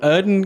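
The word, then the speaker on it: Yrden: it's like a magic ring essentially yes so erden can uh prevent the uh creature becoming invisible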